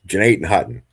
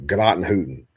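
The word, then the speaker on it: Gnadenhutten: It's Jeanette Hutton. Now, if you're not from here, everybody pronounces it like Gnottenhooten, right?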